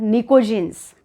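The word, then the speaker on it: pnictogens: They are also known as निकोजिन्स. पी is silent.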